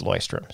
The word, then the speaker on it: Leuchtturm: And she said, we've been learning, trying to figure out for years how to pronounce this thing. How do you, he goes, Leuchtturm, 1917, Leuchtturm, it's Leuchtturm.